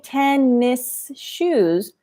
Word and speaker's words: tennis shoes: So if you're doing this, you could realize, oh, the captions say tennis shoes, but her mouth and her sound does not pronounce the S.